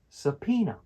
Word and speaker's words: subpoena: Pronunciation, subpoena, with the stress on the middle syllable, subpoena.